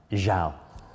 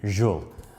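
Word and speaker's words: xal: So for instance, the word shall, S-H-A-L-L, is spelt X-A-L, jal, or even jul, X-U-L.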